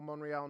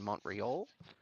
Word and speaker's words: Montreal: I wanted to congratulate you on your sophistication there of the silent T in Montreal. It is a silent T.